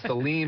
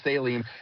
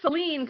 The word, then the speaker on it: Saline: So and I did know seline cuz my kid swims there a lot. But I did used to call it saline cuz that's how it's spelled.